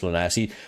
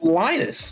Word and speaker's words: Linus: Yeah, he's down as Lanas. But it's Oranges. I mean, come on. Strictly business. It's Linus. No way you pronounced it Lanas.